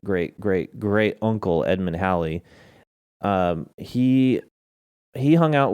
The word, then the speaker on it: Halley: see great great great great great uncle edmund halley um he he hung out with folks like newton and he was a mathematician and he he was the first one to calculate the return of halley's comet at the time it wasn't called halley's